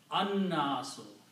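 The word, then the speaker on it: النَّاسُ: But noon is a shamsi letter, so it gives the sound of lam and pronounced annasu, the pupil.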